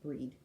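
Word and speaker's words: Brigid: So breeds cauldron and her it looks like Bridget but it she's druidic and it's pronounced breed.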